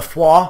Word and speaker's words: Foix: Now come on, the Foix. I believe I'm pronouncing that correctly. Foix, as it's spelt, but obviously not pronounced Foix.